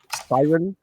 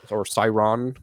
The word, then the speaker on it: Sciron: There is Siren, or Siron, actually, is the way it's pronounced. I wrote it Sciron.